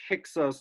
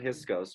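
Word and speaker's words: Hyksos: the the priesthood of thieves and when the hiskos were repelled the uh priesthood of amlan were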